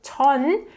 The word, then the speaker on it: 전: So 전 comes from the Chinese character chuan, and this is pronounced 전 in Korean.